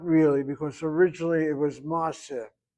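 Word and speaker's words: מעשה: Not really, because originally it was ma'aseh. We don't say ma'aseh, we say ma'aseh. Ma'aseh. So you hit the last syllable, but that patach is open because of secondary opening.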